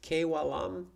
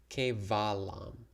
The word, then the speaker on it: Kevalam: kev alam should be pronounced k walam shouldn't it v equals w and sanskrit transcription actually no um no in the sanskrit language there is va the sound va so that's where the the consonant there is uh for okay so it's kevalam thanks for the question